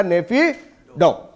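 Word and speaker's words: Naypyidaw: mark nappy डो actually इसकी spelling के उच्चारण होगा नेफी डो याद रखिएगा नेक्स्ट है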